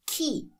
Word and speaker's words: chi: If you have C-H-I, that's pronounced as key.